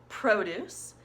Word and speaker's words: produce: the verb all right the first one was a noun produce because the accident was in the first syllable on Pro produce the second one was the verb produced because the accent was on the second syllable I'm a deuce produce